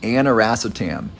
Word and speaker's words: aniracetam: that I've talked a lot about is called aniracetam anerastium that's spelled a-n-i-r-a-c-e-t-a-m what is aniracetam well it does